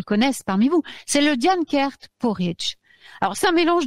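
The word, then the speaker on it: Dian Cecht: Donc, c'est Diane Kert. Ça s'écrit D-I-A-N-C-E-C-H-T. Hein. Et ça se prononce Diane Kert. Je le dis parce que comme on prononce... sinon, c'est Diane Sect, hein, si vous préférez.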